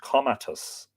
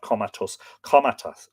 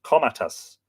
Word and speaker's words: Comatas: A certain goatherd named Comatas, not Comatus, Comatas used to feed his